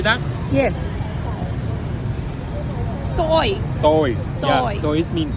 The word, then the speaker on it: tôi: we going to use going down mark. It's going down tone. It's mean. Okay. Can you say that? Yes. Toy. Tôi.